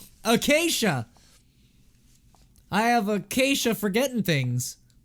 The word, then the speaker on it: Acacia: Acacia. Acacia! Why'd I say Acia? Acacia!